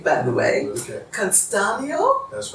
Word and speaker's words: Castano: Castano? That's right, Castano.